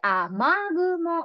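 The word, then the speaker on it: 雨雲: 雨の雲と書いて、雨雲と読みます。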